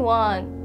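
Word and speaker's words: は: And also, if you notice the spelling, wa is spelled with hiragana wa. Yes, you guessed right. It's the same reason. This ha is a particle wa.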